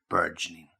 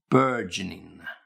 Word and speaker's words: burgeoning: year is getting bigger and bigger and bigger burgeoning. So let me give you the pronunciation. Again, burgeoning, burgeoning, burgeoning, burgeoning.